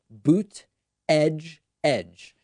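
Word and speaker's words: Buttigieg: came out and said it's very easy it's three words boot edge edge and so i've just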